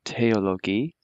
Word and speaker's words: Theologie: So remember that the THs are always pronounced like a T, so Theologie, and the Gs are always hard.